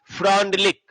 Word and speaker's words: Freundlich: फ्रॉन्डलिक। तो देखिएगा फ्रॉन्डलिक क्या बोला था। यहां पर FREUNDLICH, इसका स्पेलिंग थोड़ा उल्टा सीधा है ना, विदेशी सब है। फ्रॉन्डलिक लिखा हुआ है आइसोथर्म,